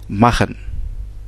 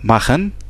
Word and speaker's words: machen: le pronom je, et ça se prononce ch, c'est notre son en allemand, vocal, mais on peut le prononcer en français comme dans le mot prémisse. Donc la prononciation du R dans le mot prémisse nous fait en fait sortir ce son ch, comme dans le verbe machen.